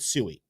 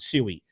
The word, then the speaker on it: Sui: You guys told us you want us to pronounce it sooie.